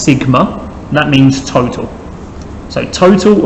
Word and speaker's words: sigma: Now this symbol here we pronounce as sigma.